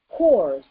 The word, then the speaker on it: corps: yielded the doublet corps, and the P is silent, so even though it's in the corps. French restored the Latin P in 14th century, and English followed in the 15th century. But the pronunciation remained corps at first, and perhaps remains so with some speakers.